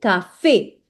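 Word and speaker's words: café: Now cafe. Now the accent is on e, right? So you have to make sure that you read it like cafe. Cafe.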